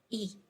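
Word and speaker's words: οι: and it becomes omicroniota which is pronounced as e so o becomes e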